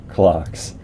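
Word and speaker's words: clox: Pronounce the names like C-locks. The name like C-locks. But you can say clocks or clock. Or you pronounce the X like the Greeks do if it makes you happy.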